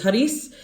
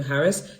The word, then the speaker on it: Haris: Well, it's Haris, but people can pronounce Haris. So I changed it to Haris, and people still don't want to pronounce it. They keep calling him Harris.